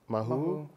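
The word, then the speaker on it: Māhū: So I wanted to tell us a little bit about those first years in Hawaii and Mahu. Mm-hmm. I'm so glad that I pronounced it properly, Mahu, and tell the folks what that means.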